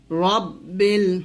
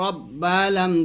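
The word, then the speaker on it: رَبِّ: রব্বিল, রবা জবর রব্বা লাম জের বিল, রব্বিল। রাব্বিল বলা যাবে না, এখানে রব্বিল বলতে হবে, কারণ এখানে রটা মোটা করে পড়তে হবে।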